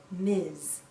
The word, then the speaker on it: Ms: we pronounce this as Miz Miz sounds like a z at the end Miz a woman can